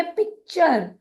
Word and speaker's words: picture: PIC हुआ pick, TURE हुआ चर, तो इसका उच्चारण करेंगे पिक्चर। पिक्चर।